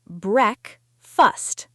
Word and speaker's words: breakfast: It is breakfast. Let's check the sound of this word. It looks like break and fast, but we pronounce it break-fust.